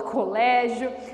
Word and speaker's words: colégio: em escola colégio Bom Colégio é terminado também em ditongo duas vogais ou semivogal e vogal então é paroxítona porque o Lê que a penúltima sílaba é tônica então recebe acento colégio certo essa aqui foi a